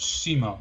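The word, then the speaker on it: Ximo: Okay, it's pronounced Simo, apparently.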